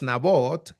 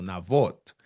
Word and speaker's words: Nabot: Su nombre es Nabot, que en hebreo también se pronuncia a sí mismo, Navot.